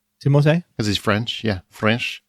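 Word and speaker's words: Timothée: either did you know his name is actually pronounced timote timote because he's french yeah french yeah but he actually doesn't mind when people call him timothy and like and this is probably why things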